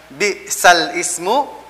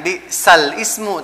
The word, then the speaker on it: بئس الاسم: Jadi cara bacanya adalah bi'sal ismu dibaca bi'salis. Jadi tidak pakai alif lam. Ya, sekali lagi untuk naql adalah cara bacanya adalah bukan bi'sal ismu tapi bi'salismu.